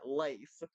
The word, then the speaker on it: Leif: Yeah, Leif. Yeah, Leif. Trying to make sure I pronounced that right. Leif. Like Lay's, but with a at the end.